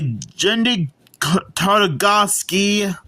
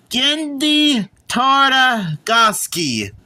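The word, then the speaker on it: Genndy Tartakovsky: The movie and show is created by Gendy Tartakovsky.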